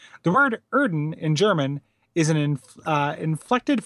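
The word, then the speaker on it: Oedon: Scott says, Erden is pronounced Erden because it's using the German umlaut OE sound, usually represented by an O with an umlaut over it.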